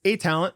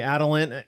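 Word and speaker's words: Atalent: Yeah, it's A-Talent, but you know, hey, Adalent, A-Talent, you know, it was a play on words.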